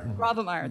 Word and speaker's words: Grawemeyer: in 1996, won the prestigious, how do you pronounce this? I'm sorry, I should have checked this out and put this, yeah. Gravemeyer.